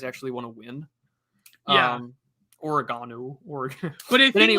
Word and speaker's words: Oregon: The Oshowville in Oregon. Okay. Yeah.